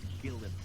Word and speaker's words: Gyllenhaal: Gyllenhaal, your name is pronounced Gillen.